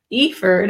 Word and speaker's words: Eiford: with me is Eiford. I had to make sure it was Eiford, not Eiford, because she was just telling me she has a client with the same spelling who pronounces it Eiford.